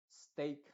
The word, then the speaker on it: steak: en esta palabras entonces la e a eh se va a pronunciar como ei en este caso la e obviamente está haciendo muda y la a se está pronunciando con el sonido e que es el sonido original de la a luego en palabras por